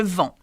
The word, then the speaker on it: vends: Je vends. That's an ending for the third group verb in the present tense. I sell. Okay? But you don't pronounce the S, by the way.